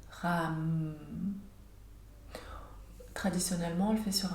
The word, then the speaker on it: ram: Donc la première partie, ra, est plus courte que le m. Donc on prononcerait ram.